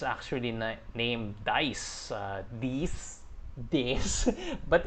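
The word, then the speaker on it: Deis: ursian it's actually named dice these days but it's spelled d-e-i-s so i'm pronouncing it as dice that's the name of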